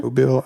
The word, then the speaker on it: Mobile: Mobile, Alabama.